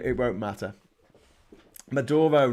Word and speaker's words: Maduro: name it won't matter maduro not majora madoro okay can you